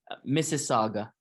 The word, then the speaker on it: Mississauga: Mississauga.